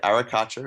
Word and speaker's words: arracacha: from well so yeah arracacha is the common name in Spanish they pronounce it with a very bit more Flair than I'm capable of with my Australian drawl but our Akash is